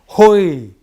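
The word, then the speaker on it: הוי: 로마자 쓰면 H-O-Y. 호이. 이렇게 발음이 나요.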